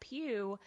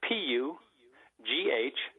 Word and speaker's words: Pugh: Pugh, or Pew or Pooh or, so it's been pronounced every single way. So I just say, like the church pew.